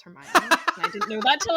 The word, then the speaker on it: Hermione: trying to pronounce hermione in my brain i pronounced it hermione but it's hermione i didn't know that till i watched the